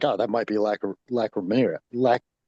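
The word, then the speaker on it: Lacrymaria: Lac No, you you had it right Maria. Lacrimaria. Lacrimaria. Good. Lacaria.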